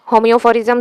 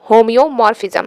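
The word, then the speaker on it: homeomorphism: Next होम्योफोरिज्म से related question पूछा गया है। The relation of होम्योमॉर्फिज्म ऑन द सेट, इतना देर से मैं गलत ही इसको प्रोनाउंसिएशन कर रही हूँ, सही कर लो, होम्योमॉर्फिज्म। ठीक है, ऑन द सेट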